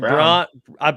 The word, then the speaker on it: Braun: speaking of it means Christian Braun Christian Brown I've been told it's brown we're gonna start pronouncing it brown okay so they have